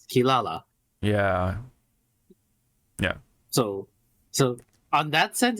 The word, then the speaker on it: Kirara: or the from Warurero the R's in Japan, yes, does translate into L's, just like in Inuyasha, the little cat Kirara, they pronounce it as Kilala.